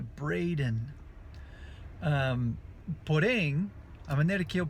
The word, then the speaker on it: Braden: perguntas sobre meu nome, que meu nome é Braden. Porém, a maneira que eu pronuncio não é Braden, que tem um D no meu nome, né? Mas não é Braden que eu falo Braden, que é um dos sons super difíceis do